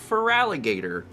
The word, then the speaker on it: Feraligatr: It's Feraligatr. That's how it's supposed to be pronounced.